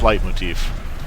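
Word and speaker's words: leitmotif: the first one uh it's German so I'm pretty sure it's light Motif thick Rich ride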